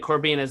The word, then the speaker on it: corbina: side for looking at Corbina. Am I saying it right? Yeah, absolutely. Yeah, 100% correct.